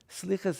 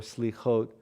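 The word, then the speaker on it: סליחות: Slichas is a Hebrew word, the way Ashkenazim pronounce it. Slichas or slichot literally means forgivenesses.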